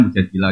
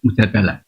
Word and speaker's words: Mujadilah: Itulah sebabnya dalam Al-Quran terdapat Surah Mujadilah —pengucapan yang benar adalah Mujadilah dengan tingkatan 'A'. Tapi apa yang umumnya dibaca orang? Mujadalah.